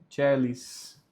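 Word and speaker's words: caelis: Letemo, aqui tem um A mudo, e no celis, o A ele é mudo, porque ele está próximo da letra E. E aí, como fica o C com E, o som é celis.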